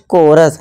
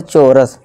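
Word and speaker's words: chorus: इस तरह से देखिए कोरस ना कि चोरस ठीक है दोस्तों सी के आगे क्या है हमारा एच है तो ये क्या होगा का की आवाज देगा कोरस यानी कि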